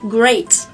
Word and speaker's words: great: Các bạn nhớ rằng là cái từ tuyệt vời ý, chúng ta phải đọc là gì? Great. Thế còn từ chào hỏi thì nó sẽ là greet.